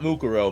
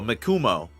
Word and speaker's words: Mikumo: mikumo not mukuro mikumo I might have mispronounced that mikumo Kun gajiro the to